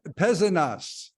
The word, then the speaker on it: Pézenas: Pézenas. We pronounce the S's, at least in the South.